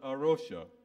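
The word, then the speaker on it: A Rocha: its resources there is a Christian Mission called arosha it's Portuguese for the rock don't know whether anyone has come across them it's spelled a and then another word Russia r-o-c-h-a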